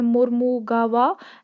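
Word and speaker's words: Mormugao: मुरमागो port, कुछ लोग pronounce करते हैं मुरमुगावा एंड सम से मुरमागो, सो जो भी आप प्रोनाउंस करते हैं, ठीक है।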